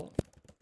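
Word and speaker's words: を: Yo, te, fu, nu, ho, hi, so, me, no, shi, en, ri, ku, to, wo, pronounced o, na, yu, re.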